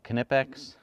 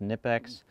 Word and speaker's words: Knipex: these nice cutting pliers some people pronounce the k and call them knipex or just nipex made in Germany really